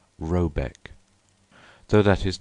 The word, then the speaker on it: Råbäck: The manor-house, or herrgard, in question is to be called Råbäck (pronounced something like Roebeck), though that is not its name.